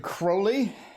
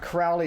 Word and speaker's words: Crowley: But this is the Thoth, if anyone wonders, by Aleister Crowley. So, yeah, it's not Crowley, it's Crowley. I promise you, he was a very picky about his name, which is kind of funny because everybody pronounces it.